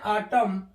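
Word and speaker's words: autumn: silent होता है जैसे ए यू टी यू एम एन तो हम इसको पढ़ते हैं आटम एन गायब आटम नहीं पढ़ते आटम पढ़ते हैं ऐसे ही सीओ एल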